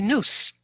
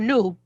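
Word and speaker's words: Nous: no it was originally noose or new depending whether you pronounce it as french meaning us or greek meaning mind but i i was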